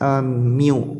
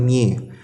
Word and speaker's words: mu: Ini bacanya adalah mu atau EX, mu bukan mie.